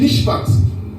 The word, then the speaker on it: mishpat: Les ordonnances, c'est des mishpat. Ça s'écrit M-I-S-H-P-A-T.